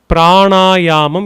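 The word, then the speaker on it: prāṇāyāma: Pranayyam. It's actually a combination of two words. It is prana and ayam. Both together would be pranaum. The n is with the dot below.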